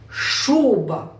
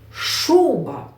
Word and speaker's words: шуба: шуба і робимо наголос як правильно ми скажемо це слово шуба шуба наголос на перший голосний у шуба молодці завдання без правилися